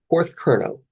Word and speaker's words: Porthcurno: So we're going to the Porthcurno Museum. You got close on pronouncing that right there. Go Porthcurno, which is all the way at the southwest end of Great Britain.